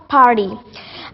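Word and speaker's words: party: next word लिखा था पार्डी American accent में जब भी हम पार्डी को प्रोनाउंस करते हैं इसके अंदर आर और वाई के बीच में अगर टी आ जाता है तो फिर वहां पे टी का डी बना देते हैं मीन पर्डी पर्डी और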